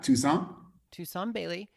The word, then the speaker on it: Toussaint: I just I whenever I say it is and make sure I'm pronouncing it correctly. You got it. Toussaint Bailey.